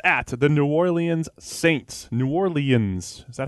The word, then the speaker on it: New Orleans: Announcers do it like that. I like New Orleans. Oh, really? Almost Nolens.